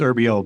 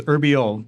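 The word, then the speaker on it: Urbiel: that was very close it's herb but that's say it again for me my name is herbo but that that's very close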